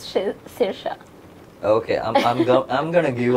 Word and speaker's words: Saoirse: think it's got a seizure really yeah it's pronounced Saoirse okay I'm I'm gonna give up these people